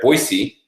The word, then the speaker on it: Boise: let's see if I can say it right, Boise.